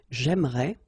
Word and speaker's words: j'aimerais: But then it's exactly the same thing because even if you've got this e here and here, you don't pronounce it. So it will go like j'aimerais, or then j'aimerais. Remember, phonetically, they are the same, okay?